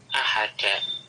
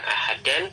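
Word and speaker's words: أحدَ: Tetapi sebagaimana dalam matan tadi bighairi tanwinin, ya, karena la-nya masuk pada isim nakirah, maka bighairi tanwinin, jadilah dibacanya ahada, bukan ahadan tetapi ahada, ya, mabniun alal fathi.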